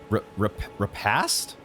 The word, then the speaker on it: repast: Considered a delicacy in the Badlands, this invigorating repast? I'm going to look this word up. What is this word? How is this pronounced?